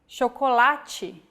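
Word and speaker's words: chocolate: or like this sintu when paired with age forming the digraph ch we have the sound chocolati so as you can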